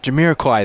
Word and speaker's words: Jamiroquai: I went with Napoleon, and I only say that because I don't know how to pronounce the artist's name. Like Jamiroquai? Jamiroquai, that's how it...